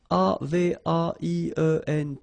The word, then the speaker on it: avaient: And then you saw probably that we've got also here A-V-A-I-E-N-T, but then you pronounce it avait. So the same way as we pronounce here, okay?